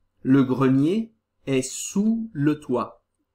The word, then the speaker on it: toit: Le grenier est sous le toit. O sótão está por baixo do telhado. Ok? Le toit. Cuidado que toit tem este T que não se pronuncia.